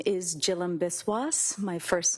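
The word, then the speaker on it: Jhilam Biswas: Yes, my name is Jill Biswis. My first name is spelled J H I L A M.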